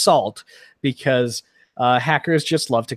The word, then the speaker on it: NaCl: Krypton an ACL crypto in NaCl is pronounced salt because hackers just love